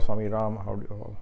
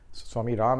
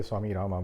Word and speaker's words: Swami Rama: Then I will say Swami Rama or Swami Ram, how you want to pronounce it. Swami Ram actually, but it's written as Rama, so a lot of people say Swami Rama, but it is Swami Ram.